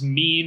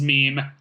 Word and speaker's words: meme: it's like kidnappers returning let me interject for anyone who doesn't know T pronounces meme is mem so if you're like what's a meme he means meme continue what I mean